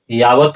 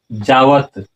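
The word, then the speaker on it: यावत्: और उस तरह से अगर यहाँ आप यावत उच्चारण करते हैं तो गलत होगा। इसलिए यहाँ उच्चारण क्या होगा? जावत।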